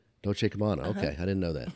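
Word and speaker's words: Dolce & Gabbana: And I can never pronounce the name of this this uh, high-end whatever it is. It's Dolce Kabana. Dolce Kabana.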